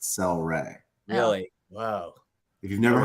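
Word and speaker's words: Cel-Ray: anybody celery soda celery celery flavor but it's pronounced cell Ray really wow if you've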